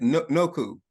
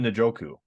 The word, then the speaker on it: Njoku: I thought you said Noku. You said Noku? Am I saying it wrong? Nachu? Njoku, right? Njoku. Njoku or Noku? I'm sorry. David Njoku.